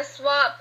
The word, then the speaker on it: swapped: s-swap i swap okay now that ending is going to be with it sound just as in the word height because the word swap ending sound is voiceless so when we add